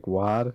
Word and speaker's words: GWAD: yeah, I didn't I didn't know how to pronounce it. So I called it Gwad, which is what we use now.